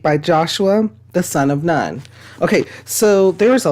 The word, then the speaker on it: Nun: Joshua the son of nun okay so there is a lot in here sermon upon sermon and some people pronounce none noon instead um and so sermon